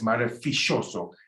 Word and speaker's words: maravilloso: Remember, marvelous is maravilloso, but in some countries in South America, it's maravilloso. It's a sh sound, the double L.